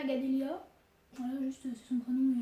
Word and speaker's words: Gadelia: la chaîne de ma mère, qui est Katuna Gadelia. Voilà, juste c'est son prénom et son nom. Katuna, ça s'écrit K-H-A-T-O-U-N-A.